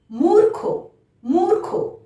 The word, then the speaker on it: মূর্খ: ময় দীর্ঘ ক্ষয় রেফ, মূর্খ, মূর্খ। ক্ষয়ের মাথায় রেফ আছে, তাহলে তার আগে র উচ্চারণ হলো।